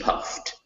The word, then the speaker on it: puffed: yeah those ed's it's they're written with an ed but the e is never pronounced so just puffed puffed okay all right and